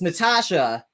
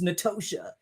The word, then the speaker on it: Natosha: So it's Natasha, but spelled with an O in the middle.